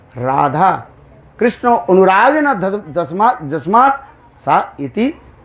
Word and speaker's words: Radha: That the two syllables, Radha.